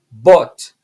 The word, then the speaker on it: bought: Bought. Como se fosse B-O-T. Bought. Bought. Ok? Esse O-U-G-H em inglês, ele vai ter sempre som de O. Então, bought. E o G não é pronunciado.